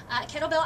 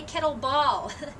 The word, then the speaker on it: kettlebell: Kettlebell obviously is different than a dumbbell, and here's one thing, kettlebell, dumbbell. This is not a kettleball, so make sure that you're pronouncing it correctly.